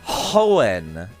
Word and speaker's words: Hoenn: Are you pronouncing O-N without pronouncing the H? Yeah, no, I'm not. I thought it was O-N. Because then it's Hoenn, and that's very awkward to pronounce.